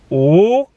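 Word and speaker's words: 五: for five more minutes in chinese five is pronounced ooh and i would put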